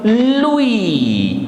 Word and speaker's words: lui: L is la, UI is OUI. Together it becomes Louis.